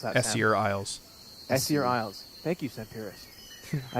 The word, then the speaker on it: Essear: Beyond to the iser Isles how do he pronounce that isier Isles thank you seirus I have sensed an